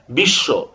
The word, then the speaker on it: বিশ্ব: উচ্চারণ হয় যেমন দেখেন বিশ্ব এখানে পদের শেষে ব ফলা রয়েছে এটা কিন্তু দুইবার উচ্চারণ করতে হচ্ছে বিশ্ব বিদ্যান ইত্যাদি উত